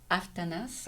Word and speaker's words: Aftanas: Et donc, c'était Stuart Aftanas, on Ouais. prononce Ouais. le S à la fin, Ouais.